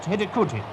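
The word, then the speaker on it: Hidegkuti: The scorer's name is pronounced Hidikuti, I hope.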